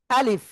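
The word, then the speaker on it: ألف: এখন আ শক্ত হবে। লিফ। তো এখন শেষের দিকে উচ্চারণটা কেমন হবে? নিচের ঠোটের পেট উপরে দুই দাঁতের আগায় লাগাবো। সবাই খেয়াল করবেন। খেয়াল করবেন। লাগিয়ে হালকা বাতাস বের করব। বের করে আমরা কোন না টেনে উচ্চারণ করব।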